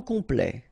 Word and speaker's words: complet: Okay, here a T at the end will open it. The sound of the E.